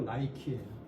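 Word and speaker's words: Nike: 니케인데 영어로 발음이 안 되니까 나이키라고 한 거야.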